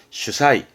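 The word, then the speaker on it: 主催: 발음은 슈사이.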